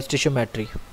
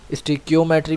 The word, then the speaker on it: stoichiometry: बेटा स्टोइचियोमेट्री क्या होती है, इसको पढ़ने में प्रॉब्लम होती है बच्चों को प्रोनाउंस करने में, तो इसका प्रोनाउंसिएशन क्या है स्टोइचियोमेट्री, स्टोइचियोमेट्री भी बोल सकते हो, मर्जी है, लिख के सही आना, ठीक है।